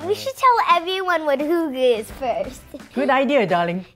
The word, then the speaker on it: hygge: should tell everyone what hooga is first good idea darling hyuga pronounced two guts is spelled h-y-g-g-e but pronounced h-o-o-g-a hygge is a danish